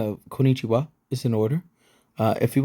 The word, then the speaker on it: こんにちは: On the other hand, if you want to draw crowds of admiring followers fawning over your excellent pronunciation, be sure to honor the doubled consonant here.